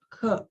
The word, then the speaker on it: 课: ya bukan tang ya tapi pakainya ke 你有几个课 Ke KHE. KE kayak tadi bacanya KE.